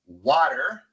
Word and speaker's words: water: Colocamos la lengua en la misma posición como si fuéramos a pronunciar una R en español y sale el mismo sonido.